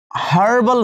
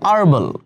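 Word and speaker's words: herbal: Same umbrella, unnatural, হার্বাল, হার্বাল না basically, হ্যাঁ এটা আর্বাল, কাইন্ড অফ এটার প্রোনাউন্সিয়েশনটা এরকম যে এইচটা সাইলেন্ট হয়ে যায়, আর্বাল, ঠিক আছে।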